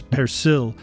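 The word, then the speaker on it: persil: trill that letter r but in french the plant is known as percil with no trill without trilling that r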